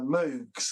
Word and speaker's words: Moog: So things like uh Moogs and or Moog as it is pronounced and Overheims and uh there was another one as well.